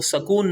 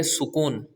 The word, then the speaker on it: سکون: یاد رکھیے یہ لفظ سکون، اس کو سکون نہ پڑھیں، اس کا جو اصل تلفظ ہے وہ ہے سکون۔ جواب، روزانہ آرام و